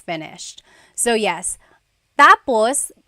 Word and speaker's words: tapos: finished so yes tapos it's a homonym it's one of those words that has a different meaning depending on the pronunciation or depending on the context of the phrase so when it's when the emphasis is at the endos that means finished when the emphasis is on the first syllable then it means next interesting there very interesting